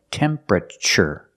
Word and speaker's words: temperature: is the temperature gauge pronunciation tempera not temperature but temperature the TU makes a CH sound like chicken temperature remember it's three syllables temperature not temperature not four syllables but three temperature this is the